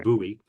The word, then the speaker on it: Bowie: located in buy Maryland spelled like Bowie like David Bowie but it's pronounced buoy and that's not far